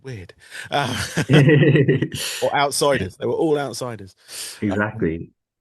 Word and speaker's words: OUTPSYDERS: Um, but it's called Outsiders, but it's spelt OUTPSYDERS. Just so in case anyone's looking for it, spelling it the other way.